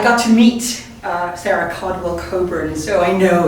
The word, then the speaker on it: Cockburn: so that's I got to meet Sarah Caldwell Coburn so I know it's pronounced Coburn it so and very little known is known